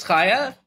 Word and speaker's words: Chaia: counter okay hi everybody uh my name is Kaya uh pronounced I am a finished cap randomizer Runner